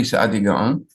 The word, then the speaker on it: Saadia: is supposed to be Saadia Gaon. And I wrote on top the way you would pronounce it, Saadia Gaon, but on the bottom is it how everybody spells it, Saadia.